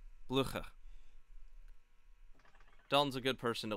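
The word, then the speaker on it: Blücher: And you completely butchered the name, too. Yeah. Blucher. Blucher? Yeah. Blucher.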